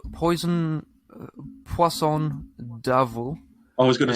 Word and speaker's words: Poisson: Poisson. And it says it's basically poison, but with a French accent.